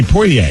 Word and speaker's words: Poitier: Did you guys hear about Sidney Poitier? Is that how it's pronounced? Poitier?